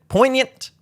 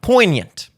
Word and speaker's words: poignant: you pronounce it po poignant it's like lasagna poignant Real G's mooving silent like poignant that is the most